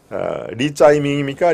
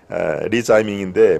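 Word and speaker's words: 李在明: 네, 리짜이밍입니까? 리짜이밍? 이재명의 중국식 발음이 짜이, 있을 제자를 짜이, 밝을 명장을 밍 이렇게 합니다. 그래서 싱하이밍, 싱하이밍은 바다의 자의 밝을 명, 그래서 싱하이밍 그렇게 되고 이재명은 이제 리짜이밍인데 물론 이렇게 리짜이밍 하면은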